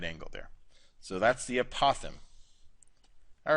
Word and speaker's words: apothem: We got this other vocab word called apotheme. I think that's how you say it. It's like a possum, but with a th, a lisp.